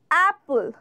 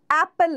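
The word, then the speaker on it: apple: বলে দিচ্ছি, অ্যাপল, অ্যাপেল না অ্যাপল, ঠিক আছে?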